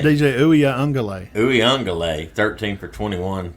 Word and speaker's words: Uiagalelei: How do you pronounce his name? DJ Uiagalelei.